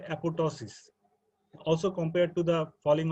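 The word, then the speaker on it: apoptosis: pronounce it it as apopto is uh but you know the the pronunciation uh includes a silent P the second p is silent so actual pronunciation is apotosis okay uh can anyone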